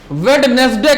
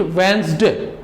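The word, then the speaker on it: Wednesday: मैंने बहुत पढ़े लिखे लोगों को देखा है कि कॉमन वर्ड है, वेडनेसडे कहते हैं, वेडनेसडे, but there is no word in वेडनेसडे. Remember we से इट वेंसडे. D silent here, D silent.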